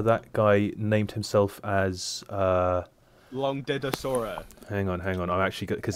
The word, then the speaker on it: Langdedrosa: Yeah, Langdedrosa. Longdedosa. Langdedrosa Cyanrath.